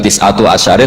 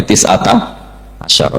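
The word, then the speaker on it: تِسْعَةَ عَشَرَ: Berarti alaiha itu tetap yang ngatasin rokok tis'ata asyara utawi 19. Tetap bacanya bukan tis'atu asyarin tapi tis'ata asyara.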